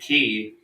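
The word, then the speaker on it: quay: Americans but they're two they're two totally different things though pronounce the same way K why is a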